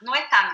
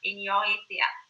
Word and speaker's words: Noetá: Noetá mesmo, como se fala. Noeta.